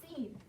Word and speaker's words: scene: I'm going to write scene. And Wyatt, how do you spell scene? S-C-E-N-E. Good. S-C. Remember, when S and C are together, the C is silent.